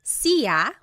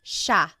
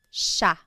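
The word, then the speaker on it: siya: It looks like it should be pronounced sia, but it's actually pronounced sha sha. There are some regions in the Philippines that might pronounce it sia, but for the most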